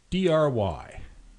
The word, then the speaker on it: DRY: And third point under this general category, DRY. Now, if you haven't encountered the software design acronym DRY before, it stands for don't repeat yourself, and it's usually pronounced just dry.